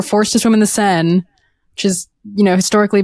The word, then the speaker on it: Seine: of their health swim through, it's the River Seine, right? Yeah. Am I pronouncing that right, Sanjana? Yeah. Swim through the Seine and one of them got a coli is fucking bananas.